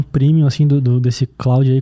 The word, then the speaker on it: Claude: e ele é aquele ele é Cloud que se escreve mas ele é francês daí tu que sabe falar francês e me falaram assim ah isso aqui tem que falar clou é se é Claude é